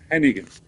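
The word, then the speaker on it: Hannigan: Okay, so it's not Barbara Hardigan, it's Hennigan.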